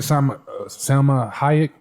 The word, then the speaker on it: Salma Hayek: But when you look at some of the characters, like you look at Salma Hayek, is that how you say it?